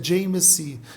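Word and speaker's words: Jai Masih: Mas quando ele se converte no Nepal, ele coloca a mãozinha do lado, ele diz Jai Messi, Jai Mashi. Aí a pronúncia é Jai Messi, que significa eu te saúdo pela vitória de Jesus na cruz.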